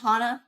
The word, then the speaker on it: Hana: I pronounce it Hana, but but yeah.